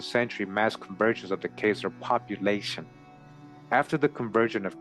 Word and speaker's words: Khazar: The Jewish Encyclopedia refers to the Khazars as Chazars. The 2 spellings are optional, according to the best authorities. The 2 are pronounced alike, either Khazar or Chazar, or Khazar, right, is the real pronunciation.